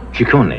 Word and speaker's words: Ciccone: right yeah my father's Italian the name is pronounced ciccone she corny yeah right strict family yes Barry in what